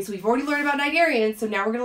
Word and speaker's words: cnidarians: And just like the cnidarians that we talked about, the C is silent.